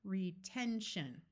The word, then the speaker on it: retention: And when you have a word that ends in shun, the syllable before it will usually be the accented one. Right here, this syllable has a vowel in the middle, so we try the short sound, retention.